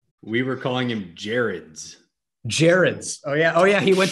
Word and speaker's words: Gerads: It's not Gerads, it's Gerads. I mean, we were close. Gerads. I don't think so. I think we were way off. Soft G, that's all we had wrong?